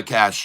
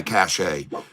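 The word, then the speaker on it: cache: deleted my cash and I'm not sure if it's cash or cash can you do that phonetically for me is it deleting my cash or is it deleting my cach a because I really don't like I call it cach a they wouldn't have an e there if it wasn't they wouldn't spell it the same way someone says cash well there you go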